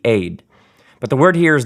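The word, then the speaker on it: עד: The word for congregation or assembly here, in Hebrew, the word for witness is the word aid. We might spell it E-D or A-Y-D, aid.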